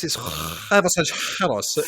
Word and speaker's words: huevos rancheros: Yeah, I don't think you're quite getting the pronunciation, the accent right there. Richard. Oh, whatever, you know. It's huevos rancheros.